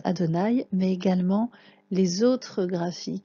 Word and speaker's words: Adonaï: de repérer non seulement la graphie de quatre lettres de qu'on prononce adonaï mais également les autres